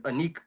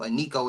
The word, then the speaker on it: Iniko: And so Aniko as well. I hope I'm pronouncing it right, but it's spelled Iniko. Aniko.